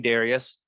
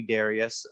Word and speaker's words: Darius: people use the name Darius I won't correct you can call me Darius uh but I do say with a long eye so Darius now that I've talked